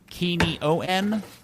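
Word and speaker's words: Quignon: seems pretty clear but they have this phonetic pronunciation of his last name as key knee o n kini o n is that how it's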